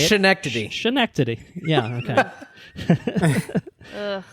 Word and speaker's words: Schenectady: Pronunciation, Andrew. As Andrew would say it. Schenectady.